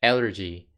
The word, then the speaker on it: allergy: 한국에서는 콩글리시로 흔히들 알레르기라고 얘기를 하죠. 이거는 스펠링만 보고 잘못 발음한 거고요. 정확한 표현은 allergy입니다. 알러지 또는 알레르기라고 하는데 여러분들은 정확하게 발음을 해주세요. allergy.